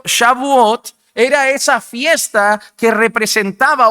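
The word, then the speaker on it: Shavuot: Es una festividad que, bueno, muchos llaman shabot, no lo voy a pronunciar bien, tengo que mejorar mi mi idioma, mis lenguas. Pero Shabuot era esa fiesta que representaba o celebraba las primicias de la cosecha.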